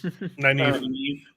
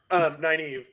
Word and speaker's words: Nynaeve: Nynaeve. Nynaeve? Yeah, Nynaeve. I keep saying Nye as in like sigh, like Nynaeve. Nynaeve, and I'm like the wisdom, whatever her name is. Anyway, Nynaeve.